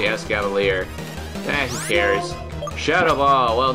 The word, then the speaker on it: Escavalier: Actually, if it's a mix of Escargot and Cavalier, it's probably Escavalier.